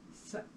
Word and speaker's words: Sat: Sat is spelled S-A-T, but it's an A without a little mark over it, so it's an Sat.